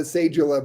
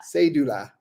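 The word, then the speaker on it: cédula: but you know what we've heard ecuadorians called a sejula before too it's really pronounced yes without the ja say you do la say Doula that is your ID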